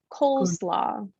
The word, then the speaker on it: coleslaw: This word is coleslaw. Coleslaw. It has 2 syllables.